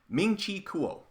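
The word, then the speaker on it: Ming-Chi Kuo: That's exactly how it's pronounced. Ming Chi Kuo.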